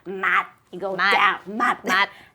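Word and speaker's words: mặt: First one would be mat, M-A-T. Mat. Yes, and if you pronounce it as mat, it means face, and if you say it with a higher tone, mat, then it means eyes.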